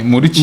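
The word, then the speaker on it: Muriqi: Muriki, pronounce that name for me. Murichi. Murichi. Murichi will just look for a way and score one tall guy with hair.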